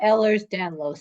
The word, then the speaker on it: Ehlers-Danlos: pronounce that correctly yeah Ellers danlos Syndrome has an S at the end of ERS their ligaments are too